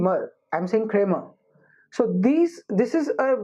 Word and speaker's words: Kramer: a em er but I don't pronounce it as creamer these are are not audible they are the right the right way to say it in in a British actual to be creamer okay so there's a there are just two syllables here's great MA I'm